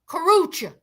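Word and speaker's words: Karrueche: y'all how you say it yeah train Kucha Kucha that's it karucha tray I'm G call this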